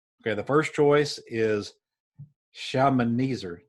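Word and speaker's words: Shalmaneser: Old Testament names but this is how you pronounce the name okay the first choice is shaman eezer shaman easer and then the second choice is Sargon and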